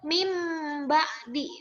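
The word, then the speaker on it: مِن بَعْدِ: ba-nya contohnya Min ba'di tulisannya Min ba'di tapi dibacanya Karena ada mim kecil dalam huruf banya karena nun mati menghadapi ba Jadi dibacanya jadi mim ba'di nah dimasukkan ke dalam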